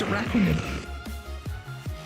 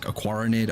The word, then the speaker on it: Araquanid: Apparently it's Araquanid. And now I feel like the biggest goober. Honestly, I mean, as far as like naming goes, like Aquaranid, Araquanid, both work.